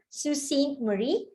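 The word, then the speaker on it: Sault Ste. Marie: is an overview or an aerial view of susan marie and this is how we pronounce her name susie marie it's a french word means rapids but don't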